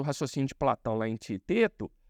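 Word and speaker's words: Teeteto: E essa ideia está explicitada num dos diálogos de Platão, que é o Tieteto, ou Teteto, como algumas pessoas gostam de pronunciar.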